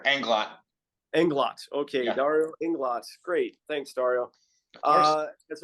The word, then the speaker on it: Englot: it right sure and Glock and glott okay Inglot great thanks Dario uh as our as our